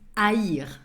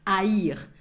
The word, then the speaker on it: haïr: Goes with an H that you do not pronounce and goes with what we call an I tréma. That's the 2 points that are on top of the I that makes the sound haïr. That makes the two vowels pronounced.